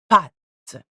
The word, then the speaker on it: pâtes: And when it's on top of an A or an O, the pronunciation of the letter changes slightly. For example, des pâtes, ou lame, ou dos. So the sound becomes deeper. A, O, instead of A and O.